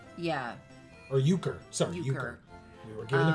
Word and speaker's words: Euchre: To Euchre. Yeah. Or Euchre. Sorry, Euchre. We were given the pronunciation.